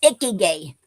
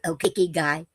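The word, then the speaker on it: ikigai: And um today's word is um icky gay. No, Icky. G A I is guy. Icky guy.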